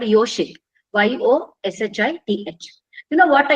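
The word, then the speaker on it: योषित्: There is a special name in Sanskrit by, it is pronounced this way. It's called Yoshit, Y-O-S-H-I-T-H.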